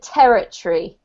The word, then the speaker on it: territory: This one, if you want to pronounce this in a really, really natural sounding way, you'd pronounce it territory.